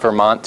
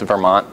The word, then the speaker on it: Vermont: it's Milton that's not Vermont it's Vermont there's no like I don't ever pronounce the T at the end of Vermont and then if you're